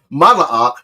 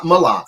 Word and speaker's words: Mala'ach: Let's look at the word Mala'ach, not Malach, but Mala'ach, which is translated as angel or messenger.